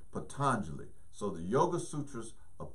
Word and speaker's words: Patanjali: the Yoga Sutras of Patanjali or Patanjali I've heard I've heard it pronounced both ways a lot of people most people say Patanjali so the Yoga Sutras